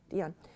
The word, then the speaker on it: Dion: Dion.